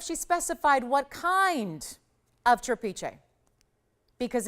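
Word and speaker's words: trapiche: Trapeche is really the proper pronunciation. I've been saying trapeche for years. That's how I learned it, but the technical, actual correct pronunciation is trapeche.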